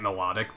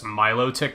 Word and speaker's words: Milotic: the milk I'm gonna continue calling it melodic because Milotic sounds stupid don't at me I don't give a if that's how it's said in the anime or whatever the [